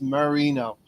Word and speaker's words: Merino: the Jose Mourinho thing it's Marino I will try to do that like Dan Marino okay uh Mel we'll